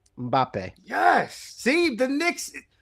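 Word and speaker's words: Mbappé: And the way to pronounce it is you take their big hit and say it like a Canadian.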